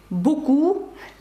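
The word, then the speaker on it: beaucoup: вже трішечки зророзуміліше чому у слові буку сі буку пишеться п але вона не вимовляється Ну я вам так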